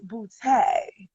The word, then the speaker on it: Boutte: character that you represent so i want to make sure i'm saying it right miss boo-tay that is it darling oh darling i love